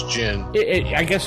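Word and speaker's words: djinn: Jin whatever or Jin the D might be silent I believe it's Jin it I guess it's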